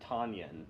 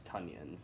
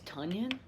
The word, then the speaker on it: Tonyan: Well, you just said Robert Tonyan when it's Tunyon, so... It's Tunyon? Yeah. Okay, It rhymes with onion, so sorry.